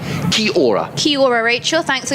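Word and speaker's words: kia ora: kia aura means hello it's a maori greeting widely used in new zealand it's pronounced ki aura so k-i-o-r-a-h perhaps rachel you could let me never got that right ki aura ki ora rachel thanks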